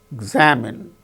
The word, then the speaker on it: examine: See, for instance, examine, examinee, examine. In the case of the word examine, second syllable gains stress.